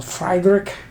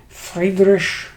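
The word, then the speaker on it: Friedrich: a video on this game which I call Freiburg but I've since been told it should be pronounced fragrish okay I can live with that and um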